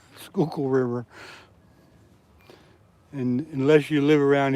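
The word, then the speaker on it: Schuylkill: The Skunkno River. That's not That's not right. But nice try. It's the Skookul River. It's spelled. It's spelled S C H U Y L K I L L.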